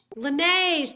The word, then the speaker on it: Laneige: It's Laneige. Laneige. Laneige, thank you.